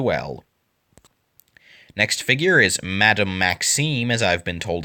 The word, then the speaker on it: Maxime: Next figure is Madame Maxime, as I've been told it's pronounced.